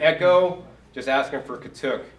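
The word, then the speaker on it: katuk: But if you go to Echo, just ask them for kuk. Or here in the south, sometimes they pronounce it kac.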